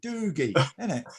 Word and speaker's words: Doogie: mean you say doggy like boogie doogie what is it dougie doogie yeah i love it that's how it's spelt double oh doogie it's like when you read a book anyway so yeah 1995.